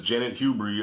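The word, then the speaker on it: Janet Hubert: in the room i think her name is janet hubery uh that's how you say her name the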